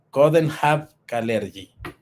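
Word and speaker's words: Coudenhove-Kalergi: que tenía que tenía un este para Richard coden have calergy correctamente pronunciado era un era un noble austriaco que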